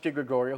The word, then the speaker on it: de Gregorio: guy Gregorio please come up and he said being a very proud man sir its misuse pronounced at de Gregorio well why don't you